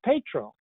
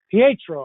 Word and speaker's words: Pietro: style and in comfort up next is Pedro Pietro I should say I'm going to pronounce